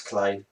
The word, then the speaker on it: Clay: Do you think they should fire Brodus Gay? Because in my opinion, he needs to call someone his mama and fuck off. I think you've got his second name wrong. It's Clay.